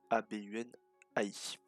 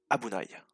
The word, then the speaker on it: abunai: Donc comme vous pouvez le voir, le mot s'écrit A-B-U-N-A-I. Donc le mot se prononce Abunai.